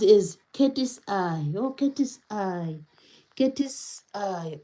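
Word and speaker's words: KATSEYE: Oh, Katie's eye saying says it's pronounced as Katie's eye.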